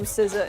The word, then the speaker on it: SZA: I don't know who SZA is.